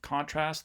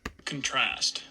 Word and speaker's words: contrast: big jump in intensity for the first syllable of contrast the con part of it contrast uh and then intensity goes down here in the second syllable um but for the verb version contrast we see that jump in uh intensity here um in the middle when we get to this a version of trast um yeah so hopefully